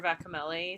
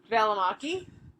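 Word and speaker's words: Välimäki: There's a Vera Vakamelli sweater from her. I always say her name correct. I know. Valamaki. Vera Valamaki. Yes. See, I said bedtime. I said it right.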